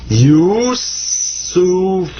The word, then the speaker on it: Yusuf: So that's sa, pronounced like a S. And this is fa. This comes up to be Yusuf.